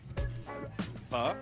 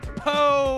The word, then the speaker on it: pho: So how do you say this word correctly, once and for all? Pho? Thank you. People keep saying po or fo. No, yeah, that's totally wrong.